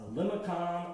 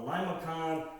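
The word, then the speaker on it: limaçon: I've heard people say it's a limicon, a limacon. Actually, the C is one like in a facade.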